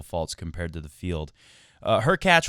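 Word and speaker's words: Hurkacz: compared to the field her cat rhymes with latch up next for Djokovic might not be easy her catch has got some weapons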